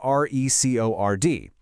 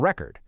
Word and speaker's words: record: know, like a vinyl record. But, if we stress the second syllable, record, it's a verb, the action of recording a video.